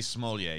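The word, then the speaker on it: Smollett: ] his name is juicy small yay juicy smolya yes thank you that's the proper pronunciation um he uh he was sentenced to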